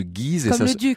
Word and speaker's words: Guise: le film mystères de guise se prononce de guise dont acte nous partons